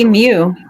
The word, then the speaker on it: emu: I don't say the U properly. Emu.